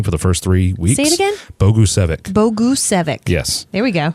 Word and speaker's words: Bogusevic: a great job Brian Bogusevic which I couldn't pronounce his name for the first three weeks Bogusevic Bogusevic yes there we go and I used to pronounce it PAGASA that's just what I went with hey it